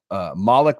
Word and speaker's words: Malik: Malik, by the way, is how you pronounce that name. It's not Malik. I learned that. It's not Malik. Yeah, I learned that Guy Haberman had a Wake Forest journalist on, and it's Malik.